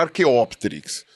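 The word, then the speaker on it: arqueópterix: o nome é arqueopterix isso se você for pronunciar da maneira latinizada correta seria arqueopterix né você coloca a É proparoxitono Então tem que ser arqueopterix mas eh ele faz essa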